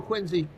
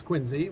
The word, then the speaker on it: Quincy: So I know Quincy, and I know how to pronounce Quincy, which is not Quincy. Quincy.